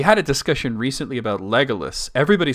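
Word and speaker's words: Legolas: Matt that's actually correct grammatically speaking lolus uh it should be legus but tolken said legalis so even he was not always internally consistent if you were to follow his strict rules it would be legus but he said legus that's just the way it was anyway let's thank you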